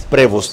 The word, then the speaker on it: Prevost: Aquí está lo que les dije de Robert Prevost o Prevost. Francis Prevost. Robert Francis Prevost se pronuncia. Es de origen francés, bueno, italo-francés.